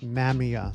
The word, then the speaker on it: Mamiya: in the '90s and they're supposed to be pronounced Mamia.